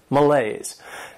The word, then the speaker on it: malaise: This word has two syllables, and the stress is on that second syllable, malaise. And this is not a great noun.